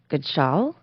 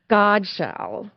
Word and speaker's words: Godshell: Uh so with us today we have uh Don Goodshell. Thank you for coming today, Don. And I said your name wrong. I know I did. I'm staring at you. Don Godshell.